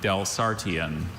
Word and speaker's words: Delsartian: Are there any alternate pronunciations? There's just the one, Delsartian.